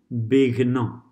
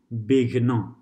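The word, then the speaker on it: विघ्न: Fourth one, bighna, bighna. Notice how the half letter is pronounced in all of these with the syllable in front, okay?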